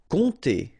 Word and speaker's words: compter: Compter, all right? So OM, really like a nasal here, on, and then this P is not pronounced.